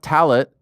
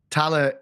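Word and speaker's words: Tallaght: Tala. No, the T is silent at the end of that. It's just Tala. Tala.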